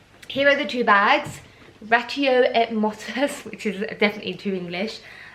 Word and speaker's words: Ratio et Motus: It's a Latin word, so it's not French, but Ratio Et Motus. Okay, so it's not French. The et. Actually, in Latin you pronounce it et. So it'd be Ratio Et Motus.